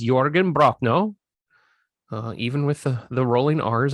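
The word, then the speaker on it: Jürgen Prochnow: Sutter Kane is played by the legendary actor Jørgen Brochno. I believe that's how you pronounce it. For the longest time, I just called him Jørgen Prochnow because I didn't know. When I was young, 1994, I was 14. I didn't know names had weird actual translations to them,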